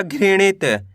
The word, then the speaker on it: घृणित: घ में ऋ की मात्रा घृ ण में छोटी इ की मात्रा ण त। तो मिलके बन जाएगा घृणित।